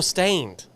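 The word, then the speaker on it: Staind: he's there are called s-t-a-i-n-d oh stained I don't know that is that how you spell it yeah stained oh wow shout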